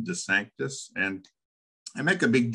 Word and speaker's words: DeSanctis: every week because he knows exactly how to pronounce my last name de Sanctus and I make a big deal out of